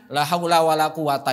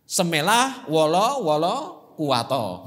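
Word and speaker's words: لا حول ولا قوة: Akhirnya la haula wala quwata itu diucapkan semelah wala kuwato. Nah itu. Itu karena lidahnya susah.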